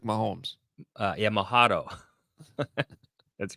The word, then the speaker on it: Mahomes: uh I bet you his name rhymes with Patrick Mahomes uh yeah mahado that's